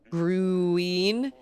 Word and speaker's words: Gruene: So we have a town called Green, but it's spelled Gruene. Green.